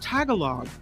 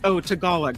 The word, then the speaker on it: Tagalog: Trevor says, Kim, when you were talking about the Lolo license plate, you mispronounced Tagalog, as so many do. It's, Tagalog, right.